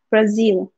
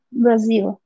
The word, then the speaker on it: Brazil: Esta Z se pronuncia como un z, como de mosquito, ¿no? En español la Z la pronunciamos Brasil, no hay problema. Pero en inglés la Z es como un mosquito, como un zumbido.